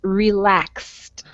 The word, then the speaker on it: relaxed: the next word is relaxed relax relax relax all right very good and again you hear that it sounds like there's a t at the end of the word relaxed relax good okay the